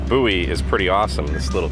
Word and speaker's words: Bowie: center in bowie texas even though it's spelled bowie b-o-w-i-e but you can get chrome truck accessories and boots and jeans so not to be confused with boots and cats boots and jeans okay so buoy is pretty awesome this